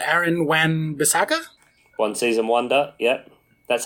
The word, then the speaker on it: Wan-Bissaka: And on the way out, we have, let's see, this one guy called Aaron Wan-Bissaka? One season wonder, yep. That's how you actually pronounce his name.